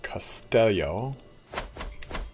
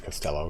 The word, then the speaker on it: Castello: And Castello. Actually, it's Costello because that's how you pronounce that.